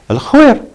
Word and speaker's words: Al-Khuwair: So don't say, I live in Al-Kuwair. No, Al-Khuwair, Al-Ghubra, Al-Adeba, not Azeba, as some people say. No, that's wrong.